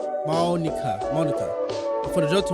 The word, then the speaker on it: Monika: Two is pronounced monika.